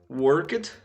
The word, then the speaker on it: worked: Worked, wanted. Worked, wanted. Se você reparar, a pronúncia correta no caso do worked, apesar de terminar com D, o som final não é de D, é de T.